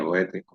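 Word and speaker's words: Goethe: Gustavo Adolfo Becker en España, e Goet en Alemania, Goet se pronuncie, Lord Byron en Inglaterra y Víctor Hugo en Seguimos.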